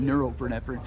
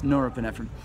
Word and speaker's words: norepinephrine: I somehow started to call it neuropinephrine because of neurons and stuff, but it's norepinephrine.